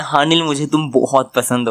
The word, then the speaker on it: Haneul: अरे इस लड़की का नाम अनिल नहीं है, अनिल नहीं है, HANEUL, हाँ निल है। अब मुझे नहीं पता क्या प्रोनाउंसिएशन है, पर अभी तो मैं यही बोल रहा हूँ।